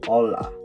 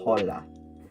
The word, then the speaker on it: hola: Mexico and then there the H is always silent so for example if you're going to say hola did you hear that I said hola not hola if you say hola